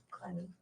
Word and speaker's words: Clenney: How do you pronounce it? Clenny.